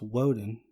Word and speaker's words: Woden: was based off of Odom which and some variation is pronounced Woden which we'll be loading